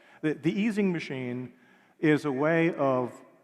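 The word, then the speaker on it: Ising: a hundred years old it's called the easing machine most Americans pronounce izing but the Germans always get upset the easing machine is a way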